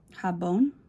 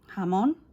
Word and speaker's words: jamón: And it says, and I don't know how to pronounce it, it's a Spanish word for ham. Jabón? I guess so. There's no B in it, but... Jamón?